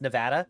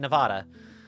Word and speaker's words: Nevada: Uh, as I have discovered, it is actually pronounced Nevada. And I got to quit saying Nevada.